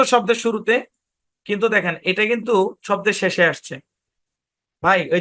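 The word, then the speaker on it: coup: থাকলে মানে সাধারণত শব্দের শুরুতে কিন্তু দেখেন এটা কিন্তু শব্দের শেষে আসছে ভাই ওই ঝামেলা আছে জন্যই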